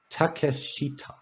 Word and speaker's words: Takeshita: pronounce his name correctly takeshita not take a but just takeshita four syllables that's not on you got